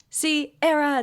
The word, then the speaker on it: Sierra: My next story does not have a title, but it begins, "Hey girlies, my name is Sierra, pronounced like the singer." And she wrote it, so I have to say it. Yes. Sierra, this beat is automatic, supersonic, hypnotic, funky, fresh.